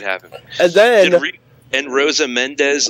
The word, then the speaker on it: Mendez: And Rosa Mendez? Is it Menendez? Yeah, it's Mendez.